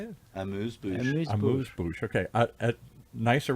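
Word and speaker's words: amuse-bouche: Amuse bouche.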